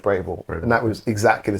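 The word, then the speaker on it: Braeval: We had a independent bottle of a Bravville. Have you I don't know if you pronounced that right. Braval.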